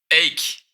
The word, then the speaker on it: avec: Donc, avec, tu peux remarquer qu'ici, avec est 2 syllabes au avec. Mais au Québec, souvent, on va dire une syllabe. Ache.